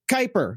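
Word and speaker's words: Kuiper: But anybody who's been to fucking junior high school knows it's called Kyper. Like the Kyper belt, that shit up in space, you dumb fuck.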